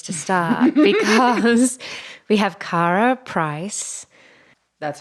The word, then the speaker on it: Karah Preiss: Well, I feel like this is a good place to start because we have Karah Preiss.